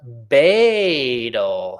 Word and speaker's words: Badal: It's pronounced Badal. Hey, Badal. If you guys want to talk to Badal, that's how you pronounce his name.